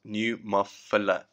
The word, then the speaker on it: pneumophila: can cause pneumonia by the way pneumophila is pronounced pneumophila the very first outbreak was recorded in Spain